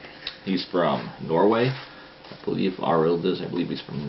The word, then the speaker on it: Arild: It's not Arlid, it's Arild. I always say his name wrong.